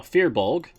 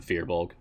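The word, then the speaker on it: Firbolg: Yes, I pronounce it Fearbulg. That's what I'm used to hearing in media. Like podcasts I listen to, streams I follow.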